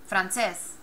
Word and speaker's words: francés: I'll say it 2 different ways. Francés, francés. Francés, francés. So which one's correct? Francés. Breaks the rule.